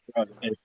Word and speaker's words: Brugh: My last name is pronounced Brugh.